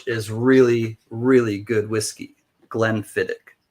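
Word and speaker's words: Glenfiddich: Glenfidic. Glenfidic is how it's pronounced.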